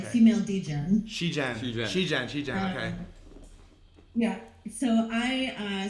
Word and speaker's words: Shegen: Yeah, so it's actually pronounced Shegen, Shegen. like Okay. female degen. Shegen.